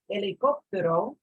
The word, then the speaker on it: helicóptero: But if I say the word helicóptero, helicóptero, the H is silent. You notice here, I'm not saying helicóptero, I'm saying helicóptero.